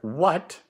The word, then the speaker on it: what: W at the beginning the word what starts with the letter W what it has a silent H right after what then